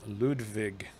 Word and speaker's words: Ludwig: And for those of you who don't know, the letter W in English is pronounced V in German. So Ludwig is Ludwig.